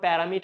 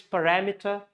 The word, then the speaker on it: parameter: It's not parameter, it's parameter.